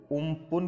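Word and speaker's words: Amphan: मतलब थाईलैंड के द्वारा ये अम्फान नाम है जो दिया गया है, जिसका उच्चारण उम्पुन के रूप में किया जाता है।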